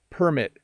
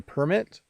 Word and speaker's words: permit: talked with brent about how the stress changes when you pronounce certain words depending on whether they're nouns or verbs it's subtle but important permit address are some examples